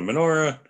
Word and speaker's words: menorah: However, menorah is much easier to say than Chanukiah. So, and it rhymes with more things like Torah and Hora.